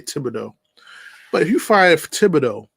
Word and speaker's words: Thibodeau: But if the Knicks do fire Thibodeau, well, he pronounced it differently. It's French, so I say Thibodeau.